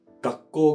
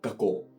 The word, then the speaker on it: 学校: そこだったら学校が学校みたいに発音されます。